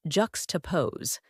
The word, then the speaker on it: juxtapose: like an art critic or a deep thinker pronounced ju toosee this verb means to put two things side